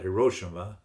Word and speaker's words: Hiroshima: It was dropped on Hiroshima. Some people pronounce that Hiroshima.